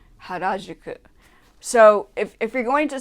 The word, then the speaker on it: Harajuku: It's not Harajuku, it's Harajuku. Harajuku.